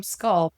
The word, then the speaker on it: SQLPT: And if you look up the name Sculpt, the way it's spelled, SQLPT, there is no other Sculpt in the nation or internationally.